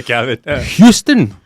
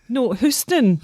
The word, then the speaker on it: Houston: everybody's watching no pressure Kev Houston no Houston Houston like a houon yes why it's still spelled the same way so so wait a